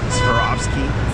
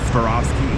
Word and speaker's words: Swarovski: Swarovski. Swarovski.